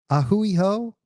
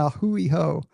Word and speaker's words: a hui ho: Aloha and a hui ho. I remember a hui ho because I always remember it rhymes with like a dirty ho, right? A hui ho.